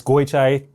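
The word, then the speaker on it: Goychai: It's not pronounced the way it's spelled. It's Goy Chai. You say Goy. Goy. And then Chai, like Chinese.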